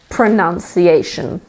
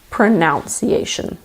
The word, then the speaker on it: pronunciation: before the you but in the noun there is no Oh in that position so we have pronunciation and not pronounce EA shun the second word is